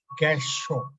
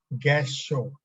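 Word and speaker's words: Gassho: You pronounce it Gasho, Gasho, first pillar.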